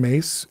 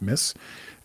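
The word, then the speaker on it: Myss: a woman named Carolyn mace or my yss you would think it's pronounced Miss and she used to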